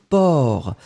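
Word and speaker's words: porc: fois donc c'est un port mais c'est ça c'est que le C final n'est pas prononcé donc vraiment le mot c'est por et l'autre c'est quoi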